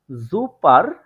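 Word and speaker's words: super: হিসেবে এখানে দেখতে পারবেন জুপার এটা যদি আমরা এক্সাক্ট বর্ণ ধরে ধরে প্রোনাউন্সিয়েশন করার চেষ্টা করি তাহলে হয় কি জুপার কিন্তু এটার উচ্চারণটা করে থাকে জুপা জুপা ঠিক আছে লাস্টে আই এর মত তারপরে আমরা আরো একটি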